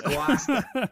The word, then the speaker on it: Gloucester: It's Gloucester.